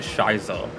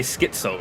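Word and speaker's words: schizo: Wait, Shyo? Would it be It wouldn't be Shyo, would it? I've always pronounced it Shyo, but it would be Skitso, right?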